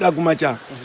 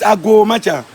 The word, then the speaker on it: Agomacha: The word is allow me to flow, Ago. The way we knock, Ago. Agomacha, or let me flow, that's the meaning.